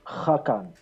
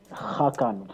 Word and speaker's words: Hakan: It's actually Hakan. You've got to Hakan, speak from within. Hakan, from your throat.